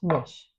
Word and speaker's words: Nish: likely to be pronounced Nish because it's a fish sauce substitute for fish. So it's called Nish, not Niche.